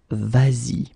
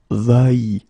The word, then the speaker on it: vas-y: normally va like that, you will have to modify it and put this s here just to get the sound vas-y instead of va-y.